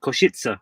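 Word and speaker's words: Košice: a bit worried about saying it because it's pronounced kushitsa koshitsa koshitsa that's where we're staying koshitsa yeah say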